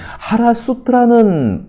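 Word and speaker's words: חרסית: 거기서 하시드라고 한다면은 그 히브리어 말 가운데에서 하시드는 하라수트라는 발음을 하게 됩니다.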